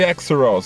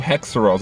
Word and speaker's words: Haxorus: Antes de eu ir embora, meninas e meninas, eu vou falar com vocês sobre Exeroz, ou Hexeroz, algumas pessoas mudam a pronúncia.